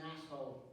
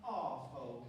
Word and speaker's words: arsehole: It's pronounced arsehole, and you'll find that I'm the biggest arsehole here.